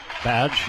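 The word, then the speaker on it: Badje: Badge in to serve. Spelled B A DJ E, but it is pronounced badge.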